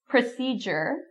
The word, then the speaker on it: procedure: So the main thing is to get the pronunciation. Graduation, graduation. Procedure, procedure.